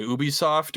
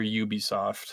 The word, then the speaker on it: Ubisoft: Ubisoft or Ubisoft? Ubie is like is like the European way of saying it. Yubie is like the North